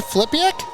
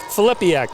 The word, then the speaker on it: Filippiak: So our winner tonight, help me with the pronunciation, Flipiak? Filippiak. Yep, Filippiak.